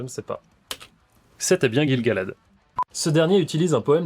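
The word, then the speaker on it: Gil-galad: Gill Galad, comment ça se prononce ? Je ne sais pas. C'était bien Gilgalad.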